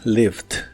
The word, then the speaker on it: lived: En el pasado es lived. Es muy similar a la versión del presente, solo que en el pasado se le agrega una D al final y la E no se pronuncia.